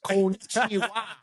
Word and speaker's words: konnichiwa: So it's pronounced konnichiwa.